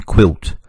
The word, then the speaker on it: quilt: The focus this week is the graph U making the sound W as in quilt. K, W, I, U, T.